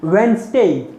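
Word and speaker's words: Wednesday: इट इज वेंसडे नॉट स।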